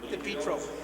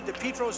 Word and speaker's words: DiPietro: In Sault Ste. Marie, DiPietro's hometown, the pronunciation is most certainly DiPietro. In Southern Ontario, they've changed it to DiPietro, and Rocky DiPietro's gone